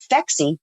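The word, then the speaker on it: Phexxi: it inhospitable to semen so fexi p-h-e-xxi is because the pH is the mechanism of action and then the double X chromosome is for women and it doesn't hurt that it rhymes with sexy so we love the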